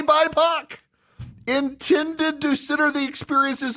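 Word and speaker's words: BIPOC: acronym for black indigenous and people of color pronounced BAC you're actually supposed to say bipac intended to consider the experiences of black and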